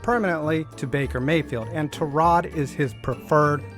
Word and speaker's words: Tyrod: In 2018, Browns quarterback Tyrod Taylor was injured in Week 3 and lost his job permanently to Baker Mayfield, and Tyrod is his preferred pronunciation.